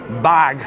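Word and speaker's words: Barq's: sandwiches you have to have your bargs or bag that's the way they pronounce it it's a root beer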